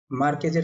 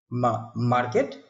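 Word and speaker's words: Márquez: মার্কেজের একটা বই স্যার। মার্কেট? না স্যার, মার্কেট না, মার্কেজ।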